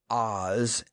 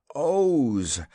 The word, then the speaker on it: Oz: "It is not Oz, as you say it, but Oz, the zone of Oz, to be more correct.